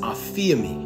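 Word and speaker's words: ἀφίημι: But it's pronounced aphiemi, which means to remit or to forgive.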